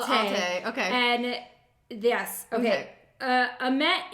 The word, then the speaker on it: Otyken: Otyken. Otyken. Oh, look. He gave us the pronunciation.